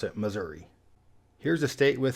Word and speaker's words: Missouri: vast majority of the population pronounces it properly, Missouri. But kind of like Colorado, you might get some country folk out there saying Missouri. However, a lot of the people that say Missouri live there.